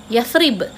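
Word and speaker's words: يثرب: Ejaannya macam mana? Huruf ya, sa, ra, ba. Yathrib.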